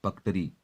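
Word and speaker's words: purgatory: इसके बाद ये जो अगला शब्द है ये लिखा है पकटरी। यहाँ आर साइलेंट है, पकटरी।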